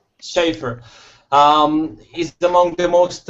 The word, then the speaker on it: Schaefer: Amir so uh Mark Sheffer is it Sheffer this is how you say schaer schaer um is among the